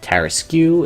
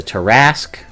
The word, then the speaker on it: tarrasque: of these monsters like it's not err askew it's a tarrasque concerned / this it's